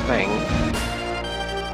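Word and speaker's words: Tseng: T-S-E-N-G, I don't know how to pronounce it. It's Thang. President says, how are the preparations going?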